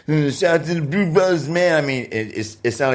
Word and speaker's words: Bru Bruthas: That's why we did BRU, and then Brothers was BRU, and it looks like bruh, but it's Brew Brothers.